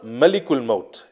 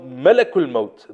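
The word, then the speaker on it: ملك الموت: and we pronounce this word correctly it's not malikul mode as many people pronounce it malik means king in in the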